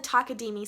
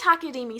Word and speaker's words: Takadimi: In the Takadimi system, you would start with saying that this is ta, because it takes up one beat and you have one syllable, ta. The next part would be ta-di, because there's 2 parts, and the final one would be takadimi, which is the name of the whole system.